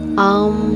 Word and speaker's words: ओम: इस शब्द का सही उच्चारण आम है, जो कि 3 अक्षरों से मिलकर बना है, आ, ऊ और These are 3 फंडामेंटल साउंड्स।